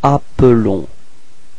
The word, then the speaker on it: appelons: Nous nous appelons. Repeat. Nous nous appelons. Okay, so you can notice that the pronunciation is a bit different for the verb. It's appelons. Okay, because there is only one L there.